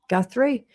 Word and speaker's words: Guthrie: Guthrie.